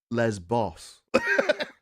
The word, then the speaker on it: Lesbos: And then you just cut to the guy who's like, no, Jeff, it's pronounced Lesbos.